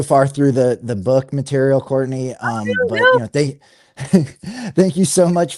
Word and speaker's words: Courtenay: So it's pronounced Courtenay, but it's spelled Courtenay.